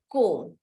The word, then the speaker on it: comb: Okay, like for example, comb. C-O-M-B, comb. Okay, womb, okay. C-O-M-B, comb. We ignore the B, the sound of B, and we just take the other part of the word.